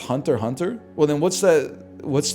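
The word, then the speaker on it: Hunter × Hunter: I I've been calling it Hunter X Hunter for years, man. is pronounced hunter. Hunter.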